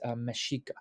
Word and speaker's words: Mexica: Even though it's spelled Mexica, it's Mexica.